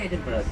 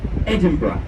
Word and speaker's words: Edinburgh: Edinburgh was born, but Edinburghers can't say Edinburgh. We say Edinburgh. That's how you say it.